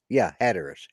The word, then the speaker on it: Hatteras: Hatteras. Hatteras and Ocracoke Island. Down that one, I don't know, but the first one's Hatteras.